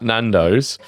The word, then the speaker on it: Nando's: No, I said Nando's. Oh, sure. I was saying they were a big multinational company. I thought you meant incognito. I don't think that list. Rhymes with Twandos.